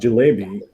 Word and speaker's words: jalebi: Do I have to pronounce it correctly? It's Jilebi.